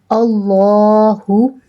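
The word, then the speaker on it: اللهُ: If the letter before the lam of the Allah carries zabar, then the lam of the Allah will be pronounced in thick tone.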